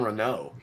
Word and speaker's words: Renault: He says her name wrong. I never noticed that. It's weird. The emperor calls her Captain Reynold and he says Captain Renault, like French.